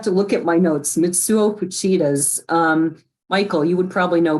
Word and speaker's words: Mitsuo Fuchida: And it's not an emphasis on a syllable like it is in English.